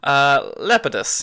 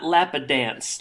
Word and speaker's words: Lapidus: written by Maxine Lapidus how you pronounce it Lepidus yeah why not not lappa dance laughs it does that's